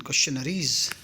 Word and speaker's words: questionnaire: यहाँ क्वेश्चन number है आपका 47, क्वेश्चनरीज। चलिए ये क्वेश्चन नरीज की स्पेलिंग बोर्ड, सॉरी जो कॉम्पिटिशन्स हैं उसमें काफ़ी ज़्यादा पूछी जाती है। क्वेश्चनरीज को पढ़ेंगे कैसे, QUESTIONNAIRE, क्वेश्चनरी। चलिए आगे बढ़ते हैं।